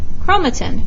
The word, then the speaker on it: chromatin: spelled phonetically alright so one example of that is centrosome sun TRO psalm centrosome chromatin kro ma 10 those are phonetic spellings okay